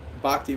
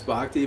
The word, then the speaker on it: Bhakti: It's because in the West, everybody hears it as Bhakti. But if you wanted to know the actual Sanskrit pronunciation, it's B-H-A, it's Bhakti. So actually that would be Bhakti.